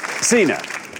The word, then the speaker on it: Sina: Sina. Hi. That's a fantastic name. Am I saying it right? It's Sina, yeah. It's a Polynesian moon goddess.